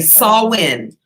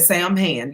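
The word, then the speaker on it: Samhain: too right with you it's pronounced wrong huh sorry okay Saul win that's that's the Halloween that we call Halloween is Saul win so how was all of us at Sam Han you see so it's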